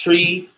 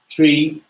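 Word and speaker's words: three: 3, you say it as tree, just because you could get it confused. So tree.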